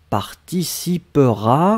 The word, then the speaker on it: participera: c'est participer donc elle participera un comme je lé prononcer mais le e juste avant le r est presque presque muet elle participera propre à